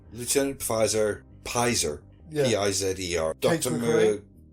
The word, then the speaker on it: Pizer: Charlie Pfizer, or Pizer, I think they pronounce it. Lieutenant Pizer.